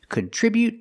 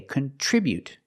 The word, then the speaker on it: contribute: Today we're practicing with these two words contribute and contribution. The pronunciation is a little different. So let's get started. With a verb we say contribute. We put the stress on the second syllable.